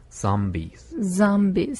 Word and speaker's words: zombies: 네, 좀비는 우리 그 아도 아닌 오도 아닌 그 발음. 네. 그래서 zombies.